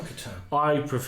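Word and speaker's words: C'tan: Satan or Catan? I used to say Catan, but people say Satan. Because it's C''T''A''N. Yeah, so I think... whichever way you want to pronounce it.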